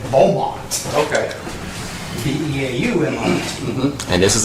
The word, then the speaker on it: Beaumont: That's the English version of the original French name of Beaumont.